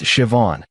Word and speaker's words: Siobhan: Her name was Siobhan, pronounced Siobhan. She taught me after I butchered it 3 times.